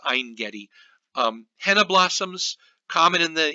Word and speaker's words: Ein Gedi: from the vineyards of a Vendetti actually I think it's pronounced ein gedi henna blossoms common in